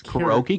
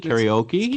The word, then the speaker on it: karaoke: I say it wrong people say both ways croaky karaoke Karen oh absolutely I